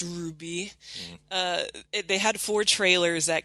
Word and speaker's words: RWBY: never seen anything about our waby which is pronounced ruby they had four trailers